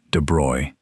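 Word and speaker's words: de Broglie: In the 1920s, a French physicist named Louis De Brogley, and his name is pronounced de Bruy, in case you were wondering, proposed something audacious.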